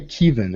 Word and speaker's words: Kevin: warmed my heart because you say it's like you're saying keev and I'm like yeah I am a keevan that is that works